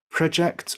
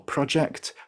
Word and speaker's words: project: increase for the verb project or project for work as a noun but project as a verb to mean through forward